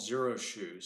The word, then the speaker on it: Xero Shoes: is on these sandals company called zero shoes spelt with an ex ex ero shoes they